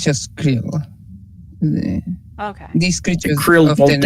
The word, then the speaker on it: Creel: Though I'd have to learn how to pronounce their name. I believe it's just Creel.